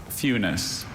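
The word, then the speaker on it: funis: Funus. Funus. F U N I C E. Funus. Fus is spelled F fu n I S.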